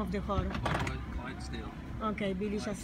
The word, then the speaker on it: Clydesdale: Look, we are at the, I don't know how to pronounce the name of the horse. Clydesdale.